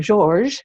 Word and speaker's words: Georges: And I knew the tree had called out to me, and this was George, or Georges, he prefers to be it pronounced.